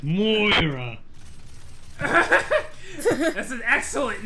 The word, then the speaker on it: Moira: Yeah, it's Moira.